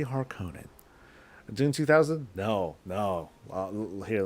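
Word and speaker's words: Harkonnen: har or the harkonen I pronounced it harkonen and I've pronounced it like that for many many years and then so when they said harken in I was like this sounds weird I don't like this I say har Conan doing 2000 no no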